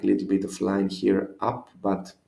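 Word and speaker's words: χι: And here, something confusing. This one is not X or X. This one is he. These are he, your H, we could say. So he sounds always like an H in the beginning of a word, like hero.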